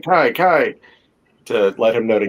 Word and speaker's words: Kiki: And I always thought it was Kiki Kyler, but it's not. No, it's Kai. Because it rhymes with the first syllable of his last name.